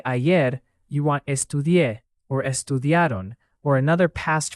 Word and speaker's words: estudié: That accent in estudié matters because it helps signal the past form. Estudié, without the accent, would be a different form in a different setting.